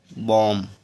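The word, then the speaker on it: bomb: बी आया हु तो बी साले इसको पढ़ेंगे बम अगला है टी एच यू एम बी तो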